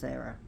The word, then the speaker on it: Hera: She's pronounced Hera."